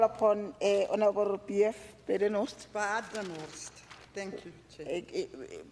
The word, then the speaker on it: Badenhorst: Badenhorst. Thank you, Chair. Badenhorst. Horst. Okay. My apology for pronouncing your Chair.